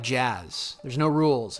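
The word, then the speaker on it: Jas: It's J-A-S, but I pronounce it jazz because jazz is cool.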